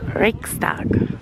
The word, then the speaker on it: Reichstag: And then over here, this is Reichstag, that's how you say it.